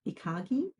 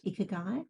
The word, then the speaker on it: ikigai: be familiar with the Japanese notion of ikagi, yeah, which I'm not sure if I pronounce it correctly, because I usually just read it, ikigai. You pronounced it better than I could.